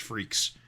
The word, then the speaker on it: Freex: a 9-issue run on Freaks at Malibu. Is that Freex? That is. How that's spelled. I don't think I've ever said that title out loud before. I guess I didn't realize it's pronounced Freaks.